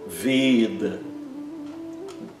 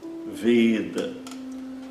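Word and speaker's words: वेद: prestar atenção que ela nunca é pronunciada como nosso E aberto, sempre como E fechado, como se tivesse um acento circunflexo.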